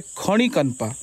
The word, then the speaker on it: Khandikanpa: pronounce कर नहीं पाएंगे तो वैसे इसको बोला जाता है खण कनपा खण कनपा जो भी बोला सकता